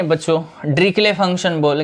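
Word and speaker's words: Dirichlet: ड्रिकले बोलते हैं उसको, ठीक है। डीरिचलेट मत बोला करो, अगर आपने बोला होगा पहले तो वो सुधार लो। उसको ड्रिकले फंक्शन बोलते हैं।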